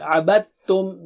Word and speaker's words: عَبَدْتُمْ: You don't pronounce dal here. عَبَدْتُمْ.